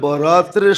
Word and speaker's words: বারাত: শবে বারাত বানায়া নিছে একটু ডিস্টেন্স উচ্চারণের ডিস্টেন্স আর কি নাইলে লিখতে একরকমই লেখে লিখতে তে একরকমই আরবিতে একরকম উর্দুতে আরবিতে একরকমই লেখে কিন্তু উচ্চারণে ডিফারেন্স একটা হলো বরাত আরেকটা হল বারাত একটা হলো মুক্তি একটা হল চলন মানে আকারের পার্থক্য আর কি আকারের পার্থক্য কল লেখতে